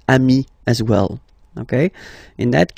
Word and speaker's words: amis: Okay, but then technically you pronounce it the same way. So singular form, ami. Plural form, you add this S, but it's ami as well.